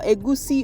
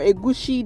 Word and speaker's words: egusi: And then I can move on to my melon seeds, or egusi or egushi, depending on how you pronounce it.